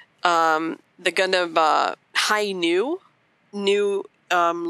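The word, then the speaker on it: Hi-ν: the gun of uh high new new um looks like the letter v in english so some people who don't who aren't familiar with gundam might be calling it the high v and they're like okay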